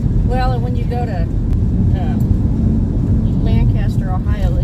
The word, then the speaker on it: Lancaster: to say that well lancaster is actually more correct lancaster's kind of the american version because we pronounce everything folks over in england would call it lancaster so just like worcestershire